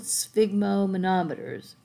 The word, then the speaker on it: sphygmomanometer: look at the old sphygmomanometers that's that's a fun word to say svig it's like you're trying to say fig but you put us on a sphygmomanometer that's the blood pressure